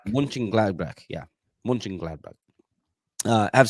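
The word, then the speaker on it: Mönchengladbach: how do you say that say for Baria munching gladbach munching gladbach yeah munching gladbach uh have 17 points and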